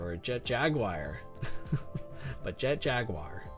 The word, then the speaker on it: Jet Jaguar: I want to be like Jet Jagger or Jet Jaguar. But Jet Jaguar, that's usually how you say it.